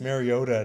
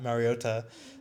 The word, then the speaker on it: Mariota: Like it's Mariota, not Mariota.